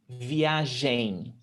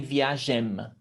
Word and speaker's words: viagem: sometimes to students because they tend to pronounce the m at the end m no in portuguese we don't pronounce the m at the end of words never we turn it into a nasal sound so what does it